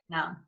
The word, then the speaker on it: aeternum: That is the word, but this sound you mispronounced. Revisit. Aeternum.